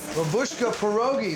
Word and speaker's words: Babushka Pierogies: Babushka Pierogies, did I say it right?